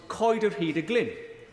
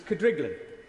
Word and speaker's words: Coed yr Hyd y Glyn: To my amazement, she said that the one she recalls best was Coed yr Hyd y Glyn, a property within my constituency that even locals wrongly pronounce as Cadriglin.